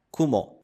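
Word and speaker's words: くも: Kumo. Nós temos a letra que tem o som de ku e temos a letra que tem o som de mo.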